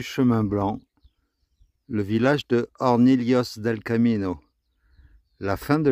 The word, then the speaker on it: Hornillos: Nouvelle règle de prononciation de l'espagnol aujourd'hui, à savoir la L, les deux L qui sont là, ça se prononce comme s'il y avait marqué un L et un I. Lios. Donc on dit Hornillos.